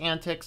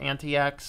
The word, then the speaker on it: antiX: out here with antics it is pronounced antics not anti acts according to the guy